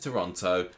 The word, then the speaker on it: Toronto: He has a new job in Toronto.